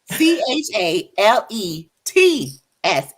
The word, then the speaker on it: chalets: definitely he said m-p-h-a-l-e-t-s c h a l e t s and it is pronounced chalets so let's is that